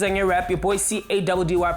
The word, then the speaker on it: Caddy: Your boy CADDY pronounced Caddy and...